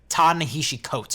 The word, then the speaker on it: Ta-Nehisi Coates: Ta-Nehisi Coates, I think is how you say it.